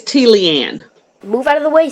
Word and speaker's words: Tleanne: tamari richardson you can find her works at fellaini speaks dot com did that pronounce that right it's t leanne move out of the way stupid t leanne